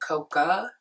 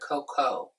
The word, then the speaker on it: Coco: twang or whatever, but it sounds like they're saying Coca instead of Coco. But his name is spelled C-O-C-O. So isn't that Coco? There's no A in it. So I don't know why I keep hearing Coca.